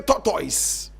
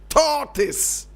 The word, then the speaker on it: tortoise: If a man has chewed the shell of a tortoise, in Nigeria they say tortoise. Correct pronunciation, tortoise. It's not tortoise. Please. Tortoise. That is the tortoise. It's a tortoise, not a tortoise.